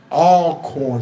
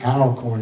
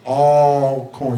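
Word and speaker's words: Alcorn: they're based out of all corn State please don't say Al corn it's all corn you got to get that all corn so I had to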